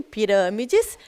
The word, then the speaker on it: pirâmides: E em pirâmides, a gente tem o acento circunflexo, o que deixa o som dessa palavra fechado.